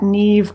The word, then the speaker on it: Niamh: me on Facebook at Neeve Arthur I'm the ne Arthur on Facebook NE is spelled n a MH awesome well thanks for